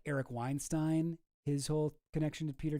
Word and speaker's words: Weinstein: Uh, and his brother Brett Weinstein, Weinstein, that is how you say it.